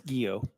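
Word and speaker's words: Guillot: command General Gregory gillo how do you pronounce that chairman it's guo guo all right General General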